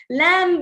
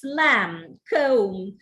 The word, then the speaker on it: lamb: is the right pronunciation lamb the ba is not realized it's lamb womb tomb the bur